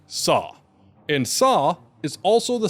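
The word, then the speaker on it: 사: In Korean, the number four is pronounced sa, and sa is also the same word for death.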